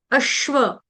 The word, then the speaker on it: अश्व: आधा अश्व अश्व अश्व इसको अस नहीं पढ़ेंगे या अश्व नहीं पढ़ेंगे ये गलत उच्चारण स नहीं आएगा तो क्या आएगा श्व श्व अश्व अश्व व पूर्ण ठीक